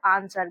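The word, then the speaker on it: answer: लेकिन इसका सही उच्चारण क्या होता है बच्चों? आंसर। देखिए यहां पर इसको हम लोग पढ़ते हैं आंसर।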